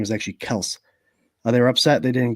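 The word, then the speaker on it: Kelce: Some people say the Kels, and it's pronounced Kels, right, Jarrod?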